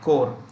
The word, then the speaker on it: Corps: to the National Cadet Corps. Remember, this is pronounced with C-O-R. Corps means body. Okay. So this P-S is silent.